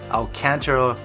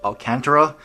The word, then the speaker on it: Alcantara: the pronunciation troubles of Alcantara I had actually looked it up I thought was Alcantara but it is Alcantara and it is feels